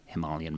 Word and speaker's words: Himalayan: the foothills of the Himalayan mountains and yes that's the way it's pronounced in English you know there's a